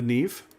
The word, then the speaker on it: Neve: The first battleship is uh the Nev. I know how to pronounce Neve.